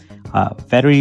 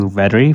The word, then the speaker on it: Vettery: Vettery is kind of hard to pronounce in audio, but it's actually easy to type.